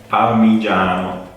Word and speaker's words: Parmigiano: Parmigiano. Oke, jadi tulisannya adalah parmi, huruf G, parmigiano. But you you say it Parmigiano. Parmigiano. Jadi kalau huruf G, I, kemudian A itu bacanya ja. Jadi Parmigiano.